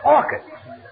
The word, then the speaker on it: orchids: It's not orchids, it's orchids. The ch is pronounced like K.